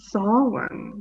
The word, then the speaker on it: Samhain: Samhain, Richard. Samhain.